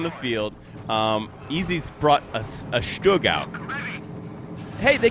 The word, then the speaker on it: StuG: They were giving me grief for mistakenly saying that the U sound in Stug should rhyme with book, which is, of course, it doesn't, because book is like and Stug is more like ooh.